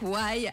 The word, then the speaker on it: Y: Donc c'est un Y, on le rappelle, mais on le prononce donc Why à l'anglaise.